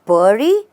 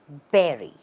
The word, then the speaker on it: bury: completely which means to have you said burry then it's incorrect the right way to say is berry how do you say it Berry the stress is not on the last part or the second part the stress is on the first part it's not B it's be and you say Berry